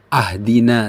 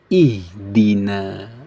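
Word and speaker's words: اهدنا: Bacanya bukan ahdina tapi ihdina ya sahabat ya.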